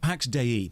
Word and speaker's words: Pax Dei: Pax Dei, that's how it's pronounced, the developer said so, is a sandbox MMO made in Unreal Engine 5.